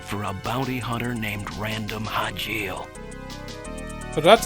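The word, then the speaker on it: Random Hajile: Watch out for a bounty hunter named Random Hajil. So that's how you pronounce it.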